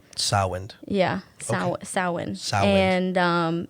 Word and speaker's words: Samhain: Way back in the day, and it was called Samhain. Samhain. Yeah, Okay. Samhain. Samhain. And it's spelled totally not like I can't spell.